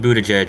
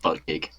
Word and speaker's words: Buttigieg: recanvass, but Pete I'm Buttigieg. not Yeah, even but they joking. keep, they're repeatedly trying to recount it. Again, I'm not even joking. For the longest time, I pronounced it butt gig.